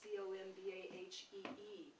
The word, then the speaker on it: Combahee: That's spelled Combahee, C-O-M-B-A-H-E-E, but down there they pronounce it Combahee, the Combahee River.